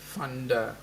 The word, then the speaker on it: Vander: say Vander um the in Dutch the V is is pronounced as the letter F funder so there we go